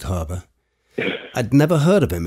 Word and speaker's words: Haber: before I digress again I'll admit I've never heard of Fritz Harbor in America sometimes pronounced Haber though I think I'll stick with Harbor I'd never heard of